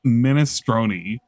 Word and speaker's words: minestrone: It's pronounced minestronei by Italians.